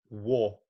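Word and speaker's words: を: I heard you pronounce "or" as "war," which is exactly how it is written. It is written "war." And if you said "war," you would sound like an old Tokyoite.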